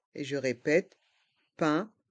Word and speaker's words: pain: Les étagères de pain. Et je répète, pain à le son 1. Pain.